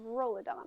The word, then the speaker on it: Rolidon: story ilsolar with the geographically tiny country of rolodon which i hope i pronounced correctly you did while it may not